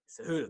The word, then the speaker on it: Cejudo: Then you follow that up with Dominic Cruz, oh my God, I can't pronounce his last name right now. Cejudo? Cejudo.